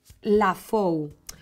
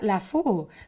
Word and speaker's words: La Fou: taninos y se llama lafou hombre si lo dijéramos en francés sería lafou Pero es Catalán de la tierra alta y se pronuncia la fou y es eh la